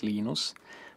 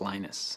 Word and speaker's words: Linus: i speak finnish it's linos when i speak english it's linus and i really don't care how people pronounce my name but linux is always